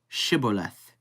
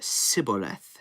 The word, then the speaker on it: Shibboleth: If he said no, they would say to him, Say now Shibboleth. But he said Sibboleth, for he could not pronounce it correctly.